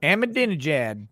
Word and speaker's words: Ahmadinejad: But the interesting thing about Persian, though, is that everything is pronounced exactly how it's written. So you can be like Ahmadinejad. Like that's literally like how it's written. So that's how Ahmadinejad.